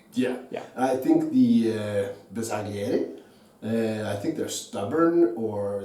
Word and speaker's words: Bersaglieri: Bersaglieri.